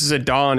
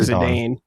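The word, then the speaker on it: Zidane: Yeah, but I thought um like I think it's Zadon is how you say his name, but we grew up saying Zadane, but it's like it's a French name.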